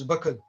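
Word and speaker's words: buckle: जो बकल होता है उसको सामान्यतः लोग बक्कल बोलते हैं, बट the correct pronunciation is बकल.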